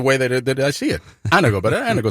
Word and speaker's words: Anago: Anago. That's exactly what I said. It's a Latin Greek word that means to uplift. Exactly.